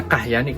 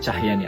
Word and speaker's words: Cahyani: Ini benar bacanya Kahyani, Kahyo. Nah, itu teman-teman harus meluruskan. Karena apa? Karena kita tidak memakai eh Huruf H sebagai pembeda antara huruf C dibaca C dan C dibaca K. Nah, tetap dibaca Cahyo.